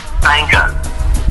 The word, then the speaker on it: Sangahz: So that's pronounced Sangas.